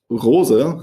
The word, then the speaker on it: Rose: Another quite important thing I would say is the family feeling here at Rosebikes, uh, because Rosa, how you say it in German, uh, is still a German family name.